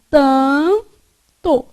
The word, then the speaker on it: tanto: Na palavra tanto, esse A é pronunciado com som nasal, não é? Então, esse N que está aqui, ele, na verdade, só serve para nasalizar o A. Então, vai ficar tanto.